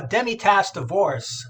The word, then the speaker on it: Demitasse: Am I pronouncing that right? Yeah, Demitasse Divorce.